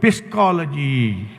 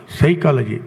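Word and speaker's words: psychology: ತರ ಉಚ್ಚಾರಣೆ ಮಾಡಬೇಕು ಅಂದಾಗ ಪಿ ಎಸ್ ವೈ ಸಿ ಎಚ್ ಓ ಎಲ್ ಓ ಜಿ ವೈ ನೀವು ಹೇಗೆ ಬರೆದಿದ್ದೀವಿ ಅದೇ ತರ ಉಚ್ಚಾರಣೆ ಮಾಡಬೇಕು ಅಂದ್ರೆ ಪಿಸ್ಕಾಲಜಿ ಯಾರಾದರೂ ಪಿಸ್ಕಾಲಜಿ ಅಂತ ಹೇಳ್ತಾರಾ ಯಾರು ಹೇಳೋದಿಲ್ಲ ಸೈಕಾಲಜಿ ಪಿ ಏನಾಯ್ತು ಸೈಲೆಂಟ್ ಯಾಕೆ ಸೈಲೆಂಟ್ ಯಾಕೆ ಸೈಲೆಂಟ್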